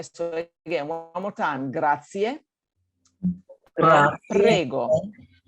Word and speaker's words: grazie: people say grazie, grazie, grazie. No. It's grazie. There is an E at the end, and we need to pronounce it.